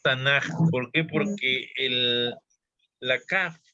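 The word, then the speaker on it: תנ״ך: No Tanakh, que debería ser lo lógico, pero es Tanaj.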